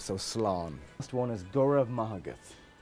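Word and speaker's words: Go raibh maith agat: Last one is Gurav Mahagat. There is no V in the Gaelic language, so the letters B and H together form the sound V.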